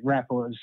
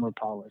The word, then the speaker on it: Rapala: For me, I mean, I grew up casting spinnerbaits and Rapalas, or actually Rapalas, I believe, is how they're supposed to be pronounced. Upstate New York, we call them Rapalas.